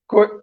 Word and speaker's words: Koate: Apparently, that's the part of my name that people can't pronounce. It's actually Koate. Koete. Koate. Koate. Okay, all right, that's good. So if I'm allowed to spell my name the way it is, it's a Ko-A-T-E.